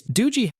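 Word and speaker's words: Doogee: It's Doogie, though the company insists on Doogie. If they wanted the latter pronunciation, they should have spelled it differently.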